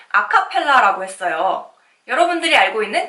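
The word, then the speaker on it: a cappella: 부터 시작이 되었습니다 여러분들이 아카펠라 글자를 한번 읽어볼까요 여러분들이 무의식 중에 아카펠라 이렇게 끄 서 일금 친구들이 꽤 있을텐데 사실 이 아카펠라 는 아 카펠라 라고 부릅니다 카펠라 풍으로 라고 읽을 수가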